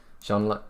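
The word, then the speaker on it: Jean-Luc: better um it is yes there you go Sean luck Pickard um so thank you very much for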